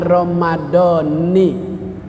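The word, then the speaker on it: رَمَضَانِ: Kalau pakai aturan ilmu sorob, ilmu nahu, bacanya Ramadhani. Kalau mengikuti kebiasaan yang banyak, Ramadhana. Ramadhana sah puasanya, Ramadhani juga sah puasanya.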